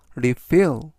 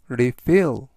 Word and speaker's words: refill: 내 메시지에 답장하지 않았다라는 뜻이 되겠습니다 이번 단어는 refill refill refill이라고 발음하시면 되겠고요 이때 강세는 뒷부분에 있는 알파벳 아의